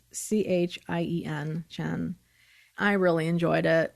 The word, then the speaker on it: Chien: That's how to pronounce her name. I know I had a question about that last time. It's Chien, Chen.